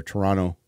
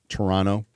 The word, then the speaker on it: Toronto: guy in Toronto or I'll say it like they do there Toronto Toronto uh built a house